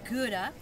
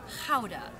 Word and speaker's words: Gouda: also today we have a gouda The Laughing gouda which in Dutch is powder for everyone that would like to know to